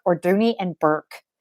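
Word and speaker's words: Bourke: Bork or Dooney and Burke? Because I've always said Bork, and I had my first Dooney and Bork purse was purchased in 1989, and I think I'm saying it wrong. Everybody says Burke.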